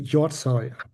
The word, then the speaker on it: Hjortshøj: You say yoy.